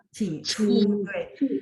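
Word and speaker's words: 起初: Cicu, terus CHU angin ya.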